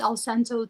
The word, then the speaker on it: Alcento: Like cento, like cien, like 100.